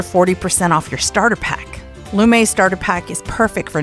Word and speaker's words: Lume: but you can control body odor anywhere with lumay deodorant that's spelled l-u-m-e and you'll get five dollars off